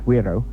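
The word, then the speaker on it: güiro: Well, I've brought down for Pauline what's called a guiro, or as it's pronounced, guiro, and it's this funny sort of shaped instrument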